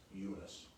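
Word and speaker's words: Youness: Y-O-U-N-E-S-S, Eunice. Pronounced.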